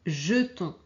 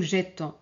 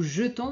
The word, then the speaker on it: jetons: Donc, on a toujours les nous et vous qui sont réguliers, c'est-à-dire ici, on prononce jeter et ici nous jetons. D'accord ? C'est pas nous jettons, nous jetons, vous jetez. Et ici appeler, nous appelons vous appelezer.